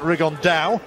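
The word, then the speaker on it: Rigondeaux: fighting rigond though or as he's correctly pronounced with the uh the Spanish accent rig on Dao and look two absolute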